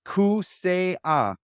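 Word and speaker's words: Kaseya: It's spelled Kasea, but it's pronounced Kusea. So our arena is now going to be called Kusea in downtown Miami.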